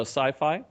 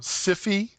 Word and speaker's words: Syfy: It was Sci-Fi. Oh, Siffy. Syfy, yes, Syfy. I guess they still pronounce it sci-fi, don't they?